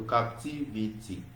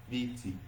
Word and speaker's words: captivity: So captivity. If you look at that T, captivity. So the answer is option C. So that T is a little bit stressed, right, than the other ones.